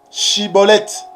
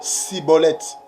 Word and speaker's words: Schibboleth: Il est question de bien prononcer. La prononciation. Chibolette. Mais non Cibolette.